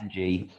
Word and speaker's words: Ng: pronounce that uh yeah ng so it's just that just the letters yeah because we signed